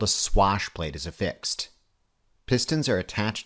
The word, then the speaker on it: swash plate: Note I'm pronouncing it swash plate, not squash plate. Don't be the person that demolitions a perfectly good interview by telling a prospective employer all about squash plates.